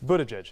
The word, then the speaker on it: Buttigieg: How do you pronounce it? Buttigieg.